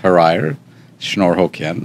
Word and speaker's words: Hrayr Shnorhokian: name it's Armenian name and uh it's uh pronounced har schnor hoken it's a tongue twister it is for sure